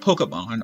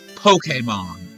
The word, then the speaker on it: Pokémon: that said Pokedex but it's not Pokemon or Pokemon it's Pokemon and you don't get to mispronounce it because language evolves that e is Latin it's not Japanese it's not [ __